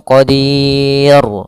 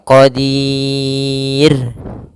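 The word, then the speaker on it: قدير: Ro tarqik tidak boleh dibaca qadir jadi tebal. Misalnya saaiin qodir enggak tapi dia tipis rnya. saiin qodir. Nah, seperti itu.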